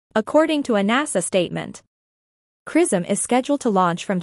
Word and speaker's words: XRISM: The X-ray Imaging and Spectroscopy Mission, XRISM, pronounced XRISM, will analyze X-rays using the widest field of view instrument ever implemented in this kind of imaging probe.